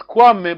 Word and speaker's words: Kwame: So you don't pronounce the K? No, you pronounce Kwame, but I just want to spot Amme.